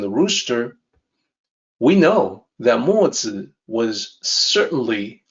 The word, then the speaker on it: Mozi: So Mozi is the name, and Mozi is how it seems to sound when phonetically transliterated.